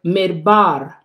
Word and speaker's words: midbar: So now, the word wilderness in this text, in the Hebrew is the word midbar, midbar. It's spelled M-I-D-B-A-R.